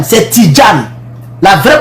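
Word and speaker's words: Tidjane: pas un nom ivoirien Tidan c'est même pas Tidien c'est Tidjan la vraie prononciation c'est Tidan c'est D et puis gen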